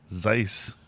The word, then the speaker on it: Seuss: Zeiss. Zeiss. Is that how you say Seuss? Yeah. So, all this time we've been saying Dr. Seuss and it's He just went with it.